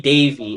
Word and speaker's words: Davy: Uh so the person who discovered the element barium was Humphrey Davyy if I'm pronouncing that correct in 1808.